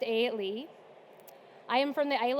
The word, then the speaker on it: Eilidh: all the letters there would suggest it is pronounced a Le I am from the Isle of Aon which